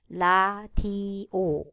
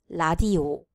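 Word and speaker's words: 라디오: In Korean, consonant R is not existing, so they will replace it with the closest sound, which is L. So Korean word for radio becomes radio, radio. For the last syllable O, it must include the circle-like consonant on the top.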